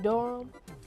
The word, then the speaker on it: Durham: Like, at the time, the way I came up with the Ham Thief, it's my name, Durham, but they pronounce it Durham.